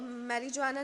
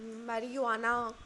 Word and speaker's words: marijuana: इसको मैरिजुआना नहीं मैरिजुआना pronounce करते हैं, ओके।